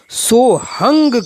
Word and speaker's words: सोहम: समय चल रही है वहां सोहंग शब्द का उच्चारण सोहंग किया जाता है यानी लिखने में तो सोहम है मगर इन प्राचीन परंपरावादी गुरुओं के माध्यम से जो इसका उच्चारण करते हैं वह सोहंग करते हैं तथा व्याकरण के